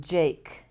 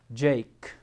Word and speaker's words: Jake: rhyme there 19 write the letter that makes no sound in Jake Jake well I hear a j a and then there's a letter on the end that we're not hearing and it's called Silent E because Jake is spelled this way using the a unit we don't hear the E we don't say Jakey or Jak we just say Jake write a two- syllable